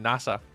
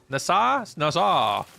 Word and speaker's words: Nassau: You were figuring out how to pronounce the city from the Pirates of the Caribbean, saying NASA. Nassau.